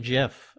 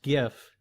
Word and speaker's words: GIF: to a Giffen Jeff I pronounced it Jeff for the longest time because that's just how I read it and then yeah just like common perception common opinion came up that it's supposed to be pronounced gif and so I just